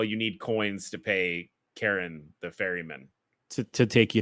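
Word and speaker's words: Charon: It's because it's Karen. That's how you pronounce the ferryman of the dead. I guess they couldn't have Karen and They couldn't Milton be save the world from a Karen, cult.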